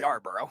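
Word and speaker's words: Yarbrough: Ahmed Rosario, Ryan, how do you pronounce it? Yarborough. Yarborough, who I don't even know.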